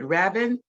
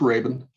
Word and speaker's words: Rabin: we so appreciate it both my guests Rabin did I pronounce that correctly it's Raven Raven Raven and I are delighted that